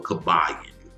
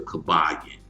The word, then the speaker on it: Kybalion: And this is something called the Kybalion or easily found on the web as the Kybalion. And it's spelled k y b a l i o n.